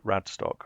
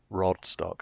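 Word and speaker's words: Radstock: I mean it's just it's just a thing from you know what is known as Radtock? Obviously not Rodstock. I can't imagine anyone pronouncing it that way and not getting lamped to be fair.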